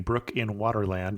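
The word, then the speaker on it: Broek in Waterland: And I don't know Dutch, but it sounds like we're saying brook in Waterland, and that's almost exactly how it's spelled.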